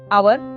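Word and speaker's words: hour: Three आवर H silent है।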